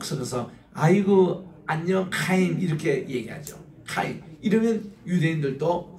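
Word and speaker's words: חיים: 우리 따라합시다 하인 하인 하인을 조금 더 그러면은이 하 임의 키역 발음을 약간 섞이면 이게 정확한 발음이에요 따라합시다 카인 카카인 왜냐면이 케이라는이 단어가 키어시 스킨 히어 바람이든 그러니까 카인 이렇게 되는데 여러분이 목젖에가 나오는 소리입니다 카임 그 아랍 사람 저 유대인들 만나면은이 카이란이 발음을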